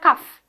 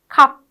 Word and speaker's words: cup: Okay, it's not cuff, it's cup, cup.